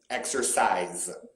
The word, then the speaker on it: exercise: said e with this i pronounce it as though it were a z exercise wise yes that does